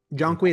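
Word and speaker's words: Zhong Kui: Jonqui Jongqui, that's how you you pronounce it.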